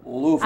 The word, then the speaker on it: Louisville: 2 and a half they they pronounced that Louisville I know they do